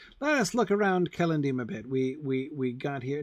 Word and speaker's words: Celondim: First of all, let me immediately say that Celondim is one of those Elvish names that I have a really hard time putting the stress on the penultimate syllable like you're supposed to. Celondim.